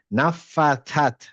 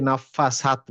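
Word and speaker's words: النفاثات: যেমন এখানে একটা ক্রিটিক্যাল অনেকে মিস করেন সেটা হচ্ছে এইটা। নাফফাত। অনেকে নাফফাসাত বলেন। যেহেতু আগে ওটা সাদ বলতেন ওই কারণে।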